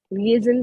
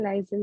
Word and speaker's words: liaison: Okay, इसकी pronunciation liaison. Licence. सन नहीं, z का साउंड निकालिए, zin. लाइसन. Yes. लिएजन भी बोल सकते हैं, लाइजन भी बोल सकते हैं, कोई डिफरेंस, कोई बात नहीं.